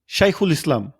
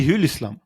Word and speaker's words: şeyhülislam: মুফতিদের উপরে ছিল একটি শাইখুল ইসলাম তুর্ক উচ্চারণে সেই হিউল ইসলাম তুর্করা আবার আরবি হরফ খা উচ্চারণ করে হে হিসাবে আমরা বাংলায় যেরকম খ হিসেবে উচ্চারণ করি তারা হে হিসেবে সেজন্য শাইউল ইসলাম তো যাই